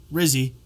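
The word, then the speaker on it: Rizzi: my my vote for head coach rhymes with fizzy okay well they talking about head coach Rizzy rzy uh who was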